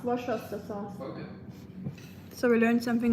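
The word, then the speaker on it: Worcestershire sauce: It's pronounced wash sha sauce. Washer sauce.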